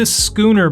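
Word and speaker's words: Schooner: Symphony Of The Seas I pronounced this as the Sher bar it is the skooner bar and this is a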